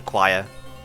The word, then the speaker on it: choir: With how choir is spelled, I was pronounced it like core as a kid, because that's how it's spelled. It's like spelled like core, like C-H-O-R. Because the English language is fucking weird.